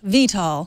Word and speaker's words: VTOL: action figures it's time to move on right Vito Vito oh I'm sorry thank you for the pronunciation help VTOL Thank You Bert if I really want to